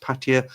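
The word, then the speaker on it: Pattaya: meet them uh Ronald I've heard Ty pronounced Patia with stress on the last syllable not like Peter pronounces it so the thing is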